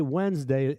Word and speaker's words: Wednesday: Um, and so Woden for Wednesday, we say Wednesday as if it's spelled we n but no, it's we d neoden's day.